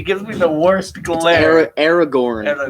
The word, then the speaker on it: Aragorn: Aragorn, not Aragorn. Yeah, no, she just like. Just give it the New York accent, and you'll never say it wrong.